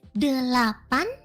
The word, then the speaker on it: delapan: And for 8 is delapan.